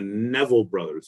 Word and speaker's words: Neville Brothers: it up buddy you're doing good and the Neville Brothers is how it's pronounced continue let's take off so her singing